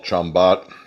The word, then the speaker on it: ciambotta: This is similar to a dish that we call chambot. Chambot. I mean, if and when you read it online, it spelled like chambada, which is just just vegetables cooked down the way I did this.